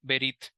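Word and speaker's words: ברית: el original en el hebreo es la palabra berit Sí así se pronuncia verit y esta palabra es la misma palabra que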